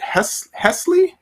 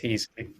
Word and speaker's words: Heasley: Is it Hesley? Is that how you pronounce the last name? Yeah, it's pronounced Hesley. Yes, that's right. No, it's pronounced Heasley.